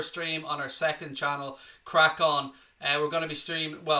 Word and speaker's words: CRAiCON: So it's called Crack On. It's spelled CRAICON.